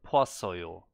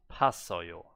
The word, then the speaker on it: 봤어요: But the pronunciation, he's not saying poa, he's just saying pa. There's no o, it's not poasoyo, it's not poasoyo, it's pasoyo.